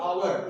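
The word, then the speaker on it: hour: जैसे कि ए आवर, इसको हावर हम पढ़ते ही नहीं है, इसको तो हम पढ़ते हैं आवर।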